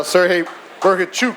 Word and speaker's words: Serhii Bohachuk: There you go, Serhii Bohachuk, as he told me to say his name. It's a chuk at the end, right, from Ukraine.